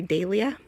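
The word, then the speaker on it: dahlia: And I think over in England, and correct me if I'm wrong, they say dia.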